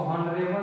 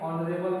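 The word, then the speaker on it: honourable: होता है प्रतिष्ठित व्यक्ति तो इसको हॉनरेबल नहीं पढ़ेंगे रेबल पढ़ेंगे क्योंकि रूल में कह रहा है कि उस सिंगुलर नाउन से पहले जो साइलेंट ह से आरंभ होता होता है य प जो ह है साइलेंट है इसको साइलेंट करके रेबल पढ़ जाएगा रेबल में नेस्ट में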